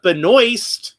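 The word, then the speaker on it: Benoist: And then I have the uh Melissa Benoy, that's how she pronounces her name.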